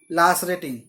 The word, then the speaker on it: lacerating: तो ये जो वर्ड है इसका प्रोनाउंसिएशन है लैसरेटिंग, या इसे लैसरेटिंग बोलेंगे, ठीक है।